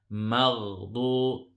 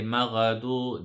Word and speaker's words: المغضوب: So hold the sukun when you join it. مغضوب. If you say maghdu, then it's a mistake.